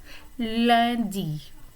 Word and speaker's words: lundi: So lundi is Monday. Notice the way the vowel is pronounced in the middle. U and N is a nasal vowel and it sounds like lundi.